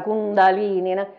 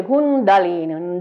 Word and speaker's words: Kundalini: abituati a dire la Kundalini dice Kundalini nalini nalini è la lingua che batte sopra l'arcata superiore dei denti altrimenti poi è un'altra